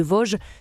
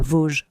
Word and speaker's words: Voge: le nom de l'entreprise qui n'est pas Voge. Vog. Vog, c'est le magazine. J'ai demandé à Marie Stella, la conseillère la bonne prononciation. C'est Vog parce qu'en fait ça vient du chinois Wii qui signifie sans limite. C'est pour ça que c'est Voge. Tu as appris c'est Voge.